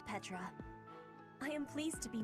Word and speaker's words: Petra: I am slightly annoyed and sad they don't pronounce her name Petra. I always said Petra.